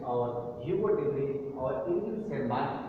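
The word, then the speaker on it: Tschermak: और सेकेंड जो Irwin शेरमार्क, Irwin जो है इरविन शेरमार्क, टी इसमें साइलेंट है, शेरमार्क में देखिएगा, तो इरविन शेरमार्क सेकेंड जो साइंटिस्ट थे ये ऑस्ट्रिया के ही थे।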